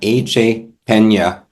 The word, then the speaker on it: AJ Pena: Well, today we have AJ Pena. How did I pronounce that, AJ?